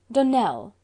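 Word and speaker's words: Donnell: Dunell, accent on the last syllable, and St.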